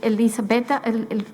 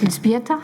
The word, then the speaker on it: Elżbieta: I will now give the floor to Elisabeta, I never know how to say it, Elżbieta, sorry, sorry about that, from the Art Foundation, Joe Dick, Roma Civil Monitoring Coordinator for Poland.